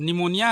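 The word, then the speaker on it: pneumonia: अब निमोनिया है, सिंपल पढ़ोगे तो निमोनिया, स्पेलिंग लिखने जाओगे तो पी पहले आता है, जबकि पी का कोई मतलब ही नहीं, साइलेंट है वो, वैसी है।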